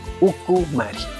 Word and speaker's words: ukumari: Es ukumari, así tal como se pronuncia.